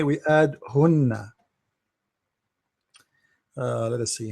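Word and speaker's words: هنّ: we say we add hunna. Let us see, hunna, how to say it in English will be like this. Hunna, make it long, hunna.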